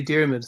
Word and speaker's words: Diarmuid: about this for a long time is it pronounced dammit yeah it's it's like it's dude I say dear image so it's like it's like I I did